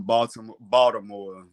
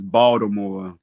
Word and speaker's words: Baltimore: I guess a street that I wouldn't go to after 8 o'clock in Baltimore, because I'm saying it wrong, it's Baltimore. The T is silent. Let someone from Baltimore tell it.